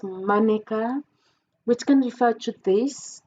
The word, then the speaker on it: mannequin: And in the world of fashion, we've got mannequin, which in French we pronounce as mannequin, which can refer to this, the mannequin, or elle est mannequin.